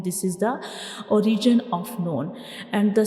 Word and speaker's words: ن: So this is the pronunciation of noon. This is the origin of noon.